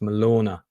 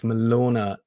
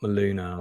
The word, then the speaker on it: Malona: messaged me and said my name is pronounced Malona so it's Malona Jackson not maluna I've been pronouncing her name wrong um uh here she